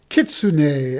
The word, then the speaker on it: kitsune: shifters magicians on the enigmatic kitsune I think that's how you pronounce it which are foxes who